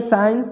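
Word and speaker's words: science: इसको पढ़ेंगे साइंस, साइंस मतलब विज्ञान होता है। इसमें भी सी साइलेंट है।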